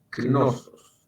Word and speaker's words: Knossos: Se escribe tal como suena, C-N-O-S-O-S, Knossos, que era la capital de la Creta clásica.